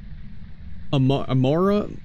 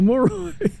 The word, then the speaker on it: moroi: A mora? Oh man, I can't mispronounce it on purpose. I can't mispronounce it! A moroi!